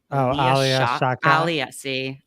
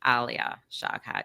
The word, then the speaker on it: Alia Shawkat: It's Alia Shawkat. Alia Shawkat.